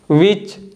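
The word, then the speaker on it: which: Next one है विच और last one है वीट। तो इन सभी वर्ड्स में भी जो लेटर एच है डब्ल्यू के बाद आ रहा है और साइलेंट होता है।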